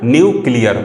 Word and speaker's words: nuclear: पढ़ रहे हैं तो कैसे प्रोनाउंसिएशन इसका कर रहे हैं, न्यूक्लियर। मतलब जो न्यूक्लियर का प्रोनाउंसिएशन है उसको हम लोग कैसे कर रहे हैं, न्यू प्लस क्लियर करके कर रहे हैं। ठीक, इसी को जब प्रोनाउंसिएट कर रहे हैं तो ये न्यूक्लियर वर्ड बन रहा है।